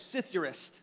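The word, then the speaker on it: ψιθυριστής: I'm gonna look at how I have it pronounced right here it's sithirist that's how you say this and this word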